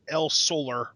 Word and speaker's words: El Solar: demon Jr do Wagner Jr and El Solar El Solar is that how you pronounce it is that good yeah well yeah it's it's just El Solar but actually you know Spanish right again just